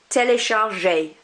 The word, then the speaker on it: téléchargé: I don't pronounce this one because there's no accent. I do pronounce this one because there is an accent. Télécharge, téléchargé. So that E accent is like an A sound.